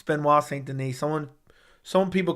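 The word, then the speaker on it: Benoît Saint-Denis: I've double triple checked it that's how you pronounce his name it's Ben W St Denise someone some people call him benois St Dennis it's benois St Den I like to see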